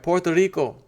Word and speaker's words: Puerto Rico: San Juan P or let me say it right Puerto Rico got to put an L in there the r becomes an L Puerto Puerto Rico or